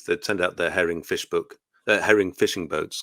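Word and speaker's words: Visboek: is nice that way it looks completely different but it sounds a lot like English so Arin kunan was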